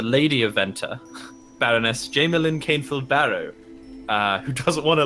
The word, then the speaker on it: Barro: thing i' I'd always Barrow so bar wheel barrow it's spelled like wheel barrow but without wheel So it's b a